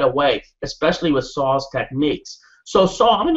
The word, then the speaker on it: Saul: was because I asked saw I said how do you pronounce your name and he says it's just like Paul it says so saw that's how you pronounce